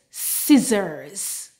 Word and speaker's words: scissors: s and C together the C is silent and we just pronounce the S sound for example a BS